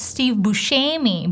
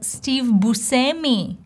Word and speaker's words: Buscemi: And it's true, it's partial true, because it's an Italian name, and in Italy he would be pronounced as Steve Buscemi.